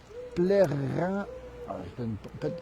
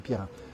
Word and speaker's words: Plérin: côte de Goëlo à Plérin, sur mer. C'est près de Saint-Brieuc. Peut-être que je prononce mal. Pierrin, pardon, c'est Pierrin.